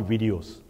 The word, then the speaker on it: Viddyoze: And lastly, videos. If you look closely or you pronounce it fast enough, you will tend to realize it's actually it's the plural of video.